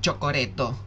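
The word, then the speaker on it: チョコレート: Un Valentine Chocoreto. Aquí es el Valentine Day, pronunciado en modo nipón. Nos están machacando desde hace semanas con el famoso Chocoreto. Valentine Chocoreto, chocolate de San Valentín.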